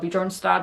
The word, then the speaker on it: Björnstad: Which, with Beartown, there's a series called Björnstad, that is how you say it in Swedish, on HBO Nordic, and